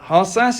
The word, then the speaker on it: Harsas: And Amanda Harsas, and I hope I pronounced that right because it's a Greek name. Welcome to you. Thank you. Yes, you did pronounce it correctly.